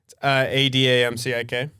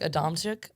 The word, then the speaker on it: Adamcik: Isn't it like originally pronounced like Adamcik? Adamcik? Yeah, we don't do all that.